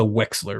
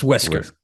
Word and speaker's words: Wesker: like that is a Wexler right there am I saying it right Wexler I think so what West wesler West Wesker it's Wesker it's whisker man those fans are